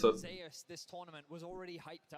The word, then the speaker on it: Zeus: it's pronounced the way he would pronounce it. Zeus, this tournament was already hyped up to be one of the best top laners in the world, and the expectation.